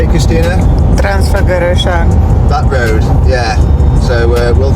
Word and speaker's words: Transfăgărășan: Transfăgărășan.